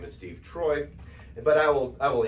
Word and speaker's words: Treu: is oi Deutsch Freud so guess what this is pronounced Troy okay and so for